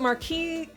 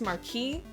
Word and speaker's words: Marquise: I can say Kismesis, but Marquise? Oh. Dang it. I always pronounce that off. I'm sure it's pronounced Marquis, but I always... it is Marquis, you don't...